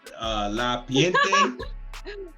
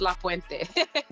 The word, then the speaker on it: La Puente: Is it La Piente? Is that it? Did I say it wrong? You know what, you're in Orlando, so there's a lot of Puerto Ricans there. It's La Puente.